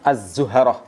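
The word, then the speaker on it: الزهرة: adalah bintang yang dinamakan Az zuharoh Jadi kalau tanpa harakat itu kadang-kadang sebagian besar keliru membacanya dengan sifat ilhaq jadi haknya harus dibaca dengan fathah itu kalau sekarang disebut Venus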